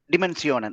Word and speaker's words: Dimensionen: So is it like English or a German pronunciation? How do you pronounce? Bedeutungens Dimensionen or a dimension? Dimensionen. Okay, like yeah, German.